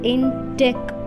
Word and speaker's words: NTeQ: Q stands for inquiry the pronunciation is in tech model so the integrating technology